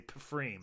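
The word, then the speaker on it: Pfriem: It was from Freem, or maybe it's just pronounced Freem. Yeah, Freem, I think. It's a silent P. Yeah. But I just want to say Pfreem.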